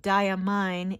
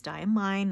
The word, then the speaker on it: Diamine: have one bottle of diamine ink everyone's been telling me it's dye and mine not diamine i get it the